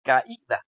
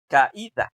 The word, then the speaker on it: caída: Y luego podemos identificar que esta palabra suena, o sea, hay algo ahí que corta el sonido de la A de la I. Porque la palabra no se pronuncia caída, se pronuncia caída, caída, caída, no es caída.